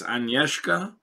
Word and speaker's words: Agnieszka: I'll probably horribly mispronounce the first name, and I'm for that. My sincerest apologies. I believe it's Agnieszka.